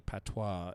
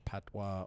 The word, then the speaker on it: patois: to wikipedia is a patois it is locally known as patois or patwa or pat w-a-h all pronounced the same i don't know why